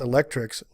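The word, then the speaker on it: ElectRx: The program, called RX, pronounced Electrics, cute, ultimately aims to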